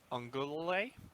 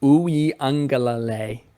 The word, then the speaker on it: Uiagalelei: Uiagalelei. Uiagalelei. Yeah. There's a couple L's in there that throw. Yeah, it's the lele, and I think it's the ung sound, but it might be the ug sound.